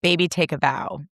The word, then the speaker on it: Baby Take a Vow: It's the perfect light girly pop like nudie pink and I pronounced the name wrong. It is baby take a vow.